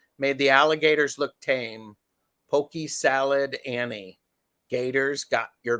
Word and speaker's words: poke: It's pronounced pokey.